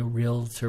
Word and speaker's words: Realtor: also able to obtain realtor branding realtor realtor apologize real Tor is the proper pronunciation it is a registered